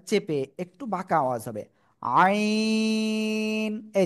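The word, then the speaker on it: عين: দিকে তাকান এই যে গলার মধ্যখান চেপে এবার আর বাতাস বের করা যাবে না বাতাস বন্ধ রেখে উচ্চারণ করতে হবে চার আলিফ টেনে পড়তে হবে আইন সবাই একসাথে জোরে জোরে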